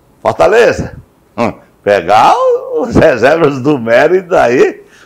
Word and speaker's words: Mérida: É, Estudiantes de Mérida. É, o Estudiante de Mérida. Qual a pronúncia? Mérida. M-E-R-I-D-A. Mérida.